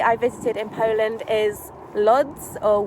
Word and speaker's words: Łódź: visited in poland is luds or wood it's pronounced it's spelled l o d z but i believe it's pronounced like woods or something like that um and it's actually